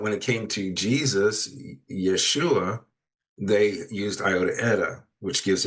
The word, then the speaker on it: Yeshua: And that's one of the proofs why I believe it was Yeshua. Yesua, not Yosua.